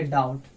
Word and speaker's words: doubt: जैसे यहाँ पे देखिए DOUBT, यानी यहाँ पे बी के बाद जो है आपका टी आया तो यहाँ पे बी क्या हो जाएगा आपका, साइलेंट हो जाएगा। यानी इसको हम लोग पढ़ेंगे DOUBT, यानी इसको हम लोग पढ़ेंगे डाउट, डाउट का मतलब शक।